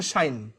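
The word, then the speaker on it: sinh: তো এটার প্রোনাউন্সিয়েশন হচ্ছে শাইন।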